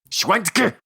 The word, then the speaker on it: Schwentke: You got to pronounce every letter. Schwentke!